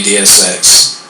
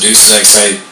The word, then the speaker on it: Deus Ex: But if I had to pick one at the top of my list, it would have to be DSX. All right. Or some people would pronounce it Deus Ex. It's DSX.